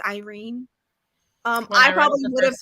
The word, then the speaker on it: Yrene: been reading irene as urine yeah i probably would have too but because of the audiobook the audiobook pronounces her name as irene um i probably would